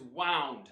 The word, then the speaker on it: wound: And the past tense of to wind is wound. Wow. Wound. But it's spelled the same here as wound. And a wound is an injury. And so, yes, they are homographs, written the same, but not homophones. They don't sound the same.